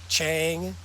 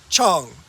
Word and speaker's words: Chang: the tourists here saying Chang so I just cringe every time so if you want to sound a little less touristy it's actually pronounced Chong like like song Chong no no what